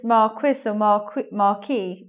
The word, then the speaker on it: marquess: either way but the the French pronunciation is Markey whereas let's say according to the dictionary the standard pronunciation of that in English is Marquess so that's the probably